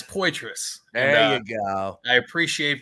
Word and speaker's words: Poitras: you say your last name sir yeah it's pous there you go I appreciate being on here